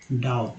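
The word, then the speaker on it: doubt: A beginning has नो डाउट, यहाँ पर जो BT है, अब डाउट कुछ भी पढ़ सकते थे, लेकिन यहाँ बी जो है साइलेंट है, याद रखिएगा बी साइलेंट है।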